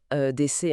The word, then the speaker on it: EDC: Alors, on prononce bien DC, hein, les trois lettres EDC, c'est ça.